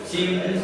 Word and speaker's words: Civilis: Porque en el latín la letra C se pronuncia como K de kilo. Y punto número 2, la letra V no es B chica, sino V, se pronuncia como una U.